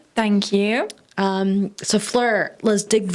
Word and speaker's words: Fleur: Today's guest is one of my dear friends and colleagues and teammates, Flur Robinson, and is pronounced Flur.